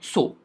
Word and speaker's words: Tso: होता है, और लेक सो मतलब TSO यहाँ पे T साइलेंट होता है, तिब्बतियन लैंग्वेज के शब्द हैं।